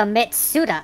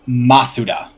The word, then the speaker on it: Masuda: sorry oh damn it Daisy what is the mitsuda effect I think you're also incorrect oh what